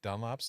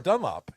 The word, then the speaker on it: Dunlap: Somebody got on me hard saying that I had mispronounced Nick Dunlap's name. Wow. I was Just did it as well. no Dunlop. Dunlap. That's like how Montanans say Dunlop.